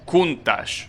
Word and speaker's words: Countach: this table like okay so it's Countach kuntash I think that's how you pronounce it well that's a pretty I think it's kuntash ing by that phonetics table it should be like that all right well that's